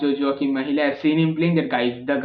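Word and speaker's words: Mæhle: with his name but i feel it is pronounced jojo mahila i've seen him playing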